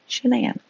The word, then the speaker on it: Shanann: now know her as Shanann, pronounced like shenanigans.